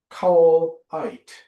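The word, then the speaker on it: caol áit: I think of the Celtic Christian tradition which speaks of what they call a cowite is the correct the pronunciation.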